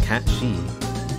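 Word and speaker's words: Cait Sith: to search that up kate siff it says here cat sif meaning fairy cat pronounced cat she is a fairy creature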